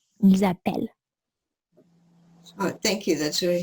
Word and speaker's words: appellent: So we double to have the E in front of a double consonant, therefore pronounce E. Ils appellent.